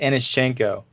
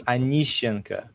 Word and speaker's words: Aneschenko: name oh boy uh it's pronounced aneschenko but if you're russian if you're russian it's anishinka so it's a little bit different it's like that so